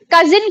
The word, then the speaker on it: cousin: था मैंने अभी कि अगर मेल होगा तो कजा और फीमेल होगी तो कजिन। ठीक है, स्पेलिंग सेम रहेगी, बस लास्ट में ई लग जाता है, दैट्स इट। और साउंड अकॉर्डिंगली चेंज हो जाती है।